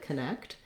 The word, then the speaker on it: connect: second syllable stress but when we go from connect to connectivity we change where we stress so looking first at connect we have second syllable stress so my next syllable